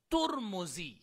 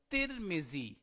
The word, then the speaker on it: ترمذی: کے مطابق ہے ترمیزی۔ دوسرا قول کے مطابق یہ ہے بضم تا و بضم المیم ترمزی، تا کے اوپر بھی ضمہ اور میم کے اوپر بھی ضمہ، ترمزی۔ اور تیسرا جو اس کا تلفظ ہے وہ ہے ترمذی بکسر التا و بکسر المیم، اور را کے سکون کے ساتھ ہے ترمذی۔ یہ 3 طرح کے